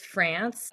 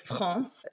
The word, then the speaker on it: France: Yeah, my name is France. It's France. That's how you pronounce it in French, which is basically exactly like what you call the country.